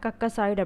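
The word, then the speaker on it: Caucasoid: ஸோ அது எப்படி pronounce பண்ணுன்னு பார்த்திங்கன்னா கக்கசாய்டு அப்படின்னு ப்ரொனவுன்ஸ் பண்ணுறாங்க.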